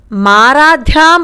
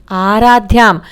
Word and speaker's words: ఆరాధ్యాం: అలాగే మూడో లైన్ చూడండి అతస్త్వా మారాధ్యాం అని చదువుతున్నారు మారాధ్యాం కాదు అది ఆరాధ్యం అతస్త్వాం ఆరాధ్యాం హరిహర విరించాదిరపి అలా అయినా చదవాలి